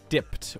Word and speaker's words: DiPT: Next up, we have DiPT (pronounced as 'dipped') or D-i-P-T DiPT is